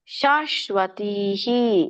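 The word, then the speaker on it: ಶಾಶ್ವತೀಃ: ಇದೆನಕೆ ಉಷಿತ್ವ ದೊಡ್ಡಶ ಇದೆ ಉಷಿತ್ವ ಶಾಶ್ವತಿಹಿ ಇಲ್ಲಿ ನೋಡಿ ಮಧ್ಯದಲ್ಲಿ ಬರ್ತಿರೋದರಿಂದ ನೀವು ಸ್ವಲ್ಪವಾಗಿ ಹ ಹೇಳಬೇಕು ಉಷಿತ್ವ ಶಾಶ್ವತಿ ಸಮಾಹ ನೋಡಿ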